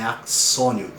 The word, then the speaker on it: axônio: Vou deixar escrito aqui, ó, axônio, se escreve axônio, mas é axônio.